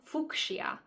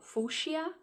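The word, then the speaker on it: fuchsia: I was calling it fuia but then I found out that the C is silent so fushia okay so once I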